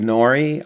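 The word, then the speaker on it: gnorri: Dreamland cats ghouls good nori I guess it's pronounced G and O are RI and zoogs player character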